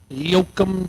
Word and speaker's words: Yoakum: Yoakum, Texas. Yo, come to Texas.